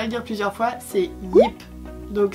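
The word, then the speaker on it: Jip: dire plusieurs fois, c'est Yip. Donc ça s'écrit avec un J, prononcé à la hollandaise, donc Ye, IP, Yip.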